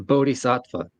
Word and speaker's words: bodhisattva: you pronounce that word yes it's bodh SATA I've never heard that word before no I've never heard that word before well it's a Sanskrit word and it it refers